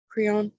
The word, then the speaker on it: Creon: Creon?